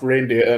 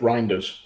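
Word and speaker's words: Reijnders: Graham is the sport team for Dutch pronounced reindeer. No, it's Reinders.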